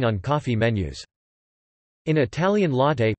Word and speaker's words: latte: Latte is missing on coffee menus. In Italian, latte, pronounced latte, means milk.